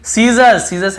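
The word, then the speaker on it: scissors: फिर देखिए सीजर्स यानी कैंची को सीजर्स कहते हैं, यहाँ पर भी एस साइलेंट है।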